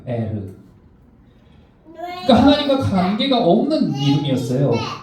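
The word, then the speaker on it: ער: 이것은 에르라고 발음하더라고요. 에르.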